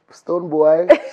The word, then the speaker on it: Stonebwoy: Stonebwoy. It's spelled Stonebwoy, but it still means Stonebwoy, so...